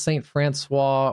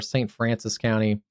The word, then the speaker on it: St. Francis County: I wasn't sure if it was St. Francois or St. Francis County. You guys dropped your friends French pronunciation. So yeah, it is St. Francis County.